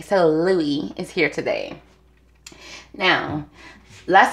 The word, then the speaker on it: Louis: um harry styles and i think i call him lewis because his name is spelled l-o-u-i-s but his fans his followers let it be known it is louis okay so louie is here today now